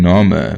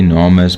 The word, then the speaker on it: Narmer: front and center being spelt with a catfish pronounced nor and a copper chisel pronounced mer we also know that